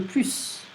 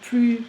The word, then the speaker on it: plus: More than is plus que. Il est plus intelligent que. We're not going to pronounce the S.